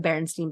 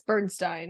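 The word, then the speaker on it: Berenstain: example of that is the barenstein Bears yeah it's Bernstein right no it's the so oh you tricked me you would think that it's spelled like Stein s t i n it's St a i n oh yes who's going to spell it like that it's the same thing where with Myers it's it's an a instead of an e and it's stupid but I think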